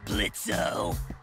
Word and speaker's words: Blitzo: Sure, Blitzo. The O is silent now, bitch.